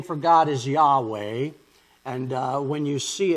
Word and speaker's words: Yahweh: for God and that's Jehovah which um I did some research on and apparently is just a mispronunciation of Yahweh so uh when you